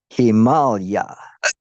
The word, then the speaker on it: Himalaya: in the Himalaya, but he pronounces it distinctly as Himalaya. Himalaya. It's a Sanskrit word that means abode of snow.